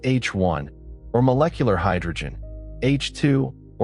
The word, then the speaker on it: H I: Most of the interstellar medium's mass is in hydrogen, either atomic hydrogen, written H1 and pronounced H1, or molecular hydrogen H2 or ionist hydrogen H2.